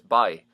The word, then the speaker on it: boy: is a refrain so the way it's pronounced from what I hear is by I can't imagine that even when used conventionally it's gonna sound any different so let's say that boy is by let's also address the